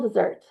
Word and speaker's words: desert: Then we have something called a moral dessert. It's spelled desert, but it it's pronounced dessert.